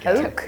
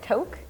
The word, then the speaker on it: Toque: Toque. Yeah, toque.